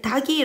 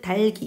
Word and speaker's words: 닭이: 라고 얘기를 했어요 자 대부분의 친구들이 요 단어를 닭이 라고 발음 하지만 사실은 달기 입니다 생략 빌미 은 첨가